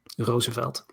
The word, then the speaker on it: Roosevelt: What's the proper Dutch pronunciation of Roosevelt? Roosevelt. Oh, you just got to R a little harder.